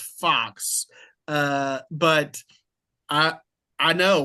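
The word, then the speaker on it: Fuhs: whose last name is Fox, but it's spelled F U HS. So in Brenham, Texas, we used to have a number of those uh that name FU HS and yes, it was always pronounced Fox.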